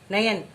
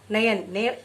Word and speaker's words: नयन: ये सही संधि विच्छेद है, ने प्लस अन, नयन। इसमें क्या बन रहा है? ए प्लस ऐ, तो सही उच्चारण क्या होगा? नयन। ने प्लस अन का सही उच्चारण क्या होगा? नयन। ये आपकी पूरी 5 जो